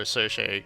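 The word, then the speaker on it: Circe: They pronounce it Kirke. I've heard like people call her Cersei. Some people call her Kirke. I'm gonna go with Kirke.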